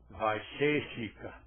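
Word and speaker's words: Vaiśeṣika: E o terceiro, nia e vai ser chica. Pronunciando este e mais longo, vaiica, o que é vai cica, o que é niia?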